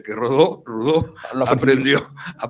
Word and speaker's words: Rodó: pone rodó No pero en Cataluña pronunciamos rodó O sea que rodó rudo aprendió a pronunciar su